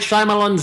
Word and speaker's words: Shyamalan: Night Shyamalan's new film, The Visit. It's pronounced Shyamalan.